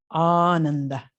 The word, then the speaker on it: Ananda: The first A is long, ah, and the other 2 A's are short. And Ananda it's like an extension of bliss.